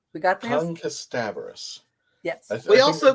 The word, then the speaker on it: Kasterborous: So let me correct everyone. It's not Kasterborous. It's not Kasterborous. It's Kasterborous. Kasterborous. We got this? Kasterborous.